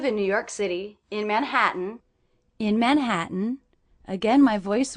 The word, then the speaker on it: Manhattan: I notice that the stressed syllable of Manhattan is the middle syllable, Manhattan. Also, I hear that I'm not really pronouncing these T's as true T's. That would be Manhattan, but I'm saying Manhattan with a little break.